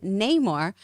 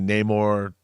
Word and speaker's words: Namor: someone tells me otherwise I will be saying Neymar like a Latin lover with the roll tongue yeah I mean I I again I don't mind that you know it's it's tomato tomato that's fine we say Namor no more you know the